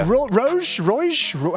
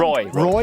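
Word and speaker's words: roeJ: Roge? How do you say it again? Roy. Sorry. Just it's a yeah, silent mate, Roy.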